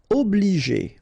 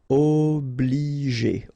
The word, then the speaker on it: obliger: Obliger. Okay, remember when you get G and after that the vowel E, then you pronounce it J.